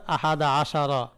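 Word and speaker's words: أَحَدَ عَشَرَ: ফাতার উপর মাপনি হবে যেখানে আমরা উচ্চারণ করব আমাদের উচ্চারণ করতে হবে আহাদা আশারা। সালাসা আশারা। সালাসাতা আশারা। আর বাতা আশারা। খমছাসাতা আশারা এরকম। তাহলে উভয় অংশের মাঝে কি দিতে হবে? ফাতা দিতে হবে।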